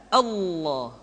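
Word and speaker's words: الله: Maka lam yang terdapat pada lafz jalalah tersebut mesti ditebalkan Allah Rasulullah.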